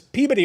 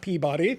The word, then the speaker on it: Peabody: I say it like I'm from Massachusetts. Peabody award, not Peabody.